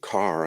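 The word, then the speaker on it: Kerr: of Milner's kindergarten included Philip k-e-r-r I pronounce it Carr I believe that's correct and who is was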